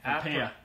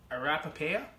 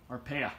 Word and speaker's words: Arpaia: Arpaia. Arapapaia? Arpaia.